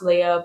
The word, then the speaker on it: Leah: I don't know why the spelling is different for my name to her name, and she is pronounced Princess Leia and I'm pronounced Leah, but I was named after Princess Leia, so I think that's pretty cool.